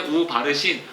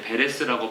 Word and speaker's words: 베레스: 모음은 그때그때 다르게 부릅니다 우가 붙었기 때문에 우바르신 우를 떼니까 이제 베레스라고 발음을 한 겁니다 운은 그리고야 그리고 접속사